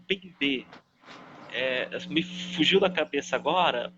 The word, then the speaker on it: Mbembe: cara que é o Bembe. Me fugiu da cabeça agora o primeiro nome dele, mas se escreve com Mbembe, com um M no começo, Bembe, Mbembe. Bembe, ele é um filósofo